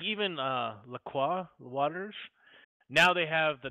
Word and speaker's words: La Croix: let LB tell us how to pronounce it. It's La Croix.